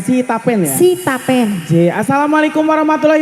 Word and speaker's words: Sitapen: Oke diucapkan salam dulu niki buat warga Stapen. Sitapen ya.